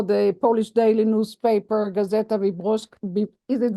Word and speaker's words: Wyborcza: Gebert has distinguished himself as a journalist working for the Polish daily newspaper Gazeta Wyborcza. Is it Wyborcza?